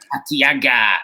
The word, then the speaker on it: Artiaga: Oh, and Artiaga. Artiaga. Okay, is that how you say it? Yeah. Artiaga. That's how Francisco says it.